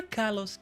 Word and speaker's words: Kalos: Kalos or Kalos? I prefer Kalos. Kalos sounds kind of wrong for some reason.